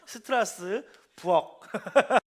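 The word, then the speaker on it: Strasbourg: 저희가 이제 스트라스부르라는 곳을 잘 알지만 가이드분이 저희의 발음이 잘못됐다는 걸 가르쳐 주셨어요. 그래서 왜 맞잖아. 우리가 발음을 잘못하고 있어. 스트라스 일본이 그 리을 발음 이런 발음들을 제대로 못 해가지고 스트라스부르라고 이렇게 불러서 한국도 그대로 따라 부르고 있지만 원래 명칭은 어떻게 되냐면요. 한번 해볼까? 하나, 둘, 셋. 그렇지. 스트라스 부엌. 친구들 집집마다 부엌이 있죠. 그거 생각하시면 돼요.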